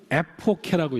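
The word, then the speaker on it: ἐποχή: 이 히라버를 영어 음역으로 읽으면 에포케라고 읽습니다. 에포케. 그래서 이 히라버로 그리스 말로 에페케인이라고 하는 동사가 있어요.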